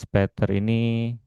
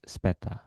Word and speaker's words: später: Seperti "bis botak", "bis später", 'ä' umlaut ini dibaca ' e'. "Bis bald", "bis später", artinya sampai jumpa nanti atau sampai jumpa segera.